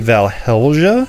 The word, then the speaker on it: Valhelsia: moment where I realize there's actually an L in there and I've been spelling it wrong the whole time and it's probably valhelja um so if I've